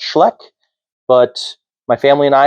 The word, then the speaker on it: Schleich: Before you say it, I know that it's not pronounced Schleich, it's pronounced Schleck, but my family and I have always said Schleich ever since I was a little kid and I'm just going to stick with my habits.